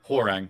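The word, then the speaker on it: Hwoarang: Horang.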